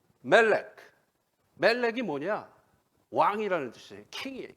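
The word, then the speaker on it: מלך: 그러면은 여기다가 MLK에다가 E 사운드를 중간에 집어넣습니다. 그럼 어떻게 발음하면 될까요? 멜렉.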